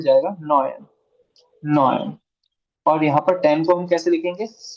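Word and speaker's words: neun: इसको कैसे प्रोनाउंस करना है? जीबन। कैसे? जीबन। ये हो जाएगा आख, आख। और ये हो जाएगा नॉयन, नॉयन।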